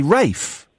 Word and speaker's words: Ralph: Why do we all know it's spelled Ralph, but why do we say Rafe?